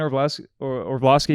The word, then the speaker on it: Orlovsky: Like ESPN was like Dan Orlovsky is how you say it, and then like the inside the NFL or whatever.